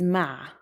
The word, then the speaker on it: مع: Arabic is ma ma try to pronounce the ein ah constrict the airflow in your throat to make the sound ah ah ma ma using